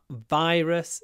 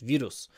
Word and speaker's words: virus: virus is very contagious virus open your mouth virus v v virus not just vus of course if you say vus vus everybody will understand you but it is not correct virus virus and virus